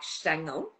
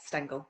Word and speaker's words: Stengel: So I think in German it's more like Stangle, but it's Yeah. Stangle. Yeah. But a lot of people pronounce extend gel because in English they can't kind of um thing.